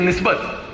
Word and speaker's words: NSBT: तो हमारे यहाँ आई डोंट नो हिंदी में भी बोलते हैं निस्बत. तो NSBT इज निस्बत, मतलब मुझे एक शब्द में उसको बोलना है, NSBT पूरा नहीं बोलना है.